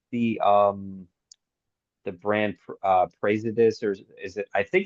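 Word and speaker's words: Praesidus: um the brand uh presidus or is it I think it's pronounced presidus even though the spelling looks like praise it is I don't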